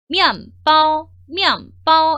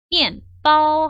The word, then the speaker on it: 面包: 성조 넣어서 읽으면 미안바오 이렇게 해주시는데 결단코 미안이 아닙니다. 그럼 어떻게 읽어주셔야 돼요? 미엔이에요. 미엔바오 하고 읽어주시는 거예요.